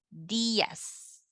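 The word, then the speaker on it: días: to stress it out you have to separate them Diaz okay buenos dias alright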